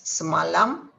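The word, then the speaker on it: semalam: today now yesterday is samalam you have to pronounce the l so curl marin curl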